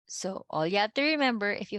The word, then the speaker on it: yo: Yo. Yo. Yo. Yo. Yo. Yo. Okay. So see, I already can hear some people say yo. The proper way to say is yo. There's like a j.